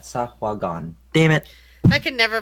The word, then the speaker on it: Sahuagin: More like Sahaguan. I fucked up the pronunciation of that. Sahuagin.